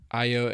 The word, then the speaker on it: Ayo: Ayo Edebiri.